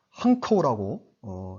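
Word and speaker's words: 漢口: 한구. 한커우라고 이제 발음을 이렇게 합니다.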